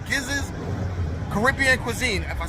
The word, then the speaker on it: Giza: at a spot called gizz's Caribbean cuisine if I said it right it's either giz or jiz it's giz we going to say giz they are fairly new